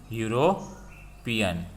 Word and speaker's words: European: voabel but we can't european okay starting with here given e vowel but we don't pronounce this as e u european so starting with consonant sound so we put here